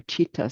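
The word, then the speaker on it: चित्त: The chitta, it's called, or chitta, some people pronounce it.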